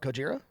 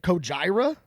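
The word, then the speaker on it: Gojira: monsters because that's how you're supposed to pronounce it. What? Cojira. Cojira. Yeah. Yeah. Is that how you pronounce How do you say it? Cojira.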